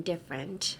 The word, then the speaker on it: different: Oh, don't pronounce the T in different, I think. The T in different is silent.